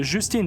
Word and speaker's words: Justine: On a par exemple Justin, le personnage de de Justine, pardon, je le prononce mal, incarné par Julia Garner qui est donc l'enseignante et cetera.